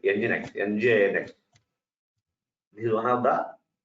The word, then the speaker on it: nginx: Of course, in the market, There are so many web servers like nginx.